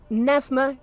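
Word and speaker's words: Pnevma: p f v e it like neva not that you would know that now but it is a silent p navma kiss never kiss and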